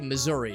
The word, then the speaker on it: Missouri: in the state of Missouri no it's actually Missouri is how it's pronounced but the joke of being in misery